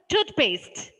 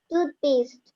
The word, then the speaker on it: toothpaste: the peculiarity is that the first syllable, the first part of the compound word is stressed. Okay? I will just make it clear to you. How will you pronounce the first word? Toothpaste. Toothpaste.